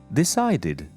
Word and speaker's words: decided: Instead of d, I'm going to say id. Decided.